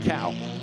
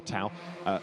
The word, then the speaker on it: Tao: an eye on is Martin Cao, sorry, Martin Toe, I should say, to pronounce it properly, or Tao.